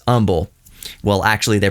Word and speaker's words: Humble: are not from Houston you spell Umble h u m b l e it is spelled humble but it's just a colloquialism locally that it's humble that's how you can tell people from out of town it's the same anywhere